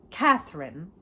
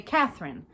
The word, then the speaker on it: Catherine: I like to say Catherine. Like, I like to accentuate the middle. Most people say Catherine. I like to say Catherine. Even if it sounds ridiculous, but I like to acknowledge the syllables.